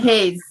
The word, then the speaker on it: Delhaize: Give me the best pronunciation. Delhaize.